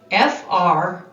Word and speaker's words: friend: it with me now f-r-i-e-n-d what did you notice what do you wonder in this word the letters i e stand for the short e sound friend right so that